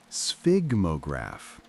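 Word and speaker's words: sphygmograph: It's pronounced sphigmograph with that initial combination of sounds that seems designed to make people stumble.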